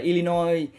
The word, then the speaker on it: Illinois: Ví dụ như là Illinois là một cái bang á, mặc dù ở sau nó có chữ S mà các bạn không được phát âm chữ S.